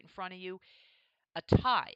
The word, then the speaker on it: Atai: in front of you a tie i believe that's how it's pronounced it's backed by peter